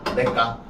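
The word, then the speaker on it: 냇가: 자, 그러면 야, 요거 발음하면 어떻게 돼? 이렇게 발음이 되죠. 내까. 그럼 얘는 무슨 게 적용된 거야?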